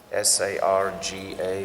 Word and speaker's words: Sarga: So the first stage is called Sargo, S-A-R-G-A or S-A-R-G-A, yes, Sarga. So, and Sarga we've already discussed. And basically, it's about the first creation by Vishnu. So, Sarga is how you say it separately, but in the verse, it's Atra Sargo.